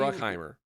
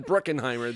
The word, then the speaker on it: Bruckheimer: Bruckheimer. Not Bruckenheimer. There was no I want to add that extra syllable. There is no E-N in there. Anyway, it's just Bruckheimer.